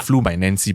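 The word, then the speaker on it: Fluminense: part of the recording it is pronounced as flumen it sounds like flu my Nancy but I try my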